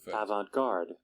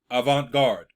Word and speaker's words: avant-garde: is where it comes from right here let's pronounce it avant-garde avant-garde what is it it is new and unusual